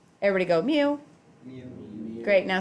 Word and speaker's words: mu: here this Greek letter that is pronounced mu as in the sound a kitten makes everybody go Mew me great now sound